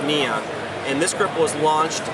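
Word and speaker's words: Niion: This is called the Neon series, and that's N-I-I-O-N. It's pronounced Neon.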